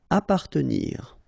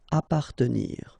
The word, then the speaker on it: appartenir: Appartenir. Okay, double P. Basically, you don't pronounce the double, so you just pronounce appa. Appartenir.